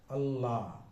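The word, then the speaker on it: الله: হামজা লাম জবর আল, লামের উপর একটা খাড়া জবর আছে, আল্লাহ। দুইবার লাম উচ্চারণ হবে, তাই না? একবার আলিফের সঙ্গে আর একবার লামের সঙ্গে।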